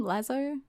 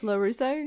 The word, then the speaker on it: LaRusso: Daniel how do you say his last name lazzo Daniel Larusso Larusso that's it um he's a